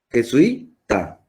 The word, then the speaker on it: jesuita: tiene tres sílabas y donde se carga la voz la última la segunda en la última se carga la voz en la penúltima que sui jesuita nuevo punto jesuita entonces